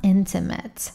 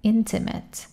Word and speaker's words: intimate: کلمه بعدی هست intimate. به تلفظ دقت کن. Intimate. Intimate. نگو intimate. Intimate.